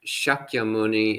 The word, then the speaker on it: Shakyamuni: in pali is pronounced shakyamuni in sanskrit but otherwise it's the same word it's just pronounced slightly differently in sanskrit so yes it's the